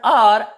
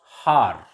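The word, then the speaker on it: hour: Here the word R, in this word R, H is silent, so it is pronounced as R, not har.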